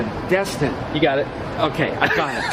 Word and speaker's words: Destin: Okay, it's Destin. You know, it's Destin. Destin.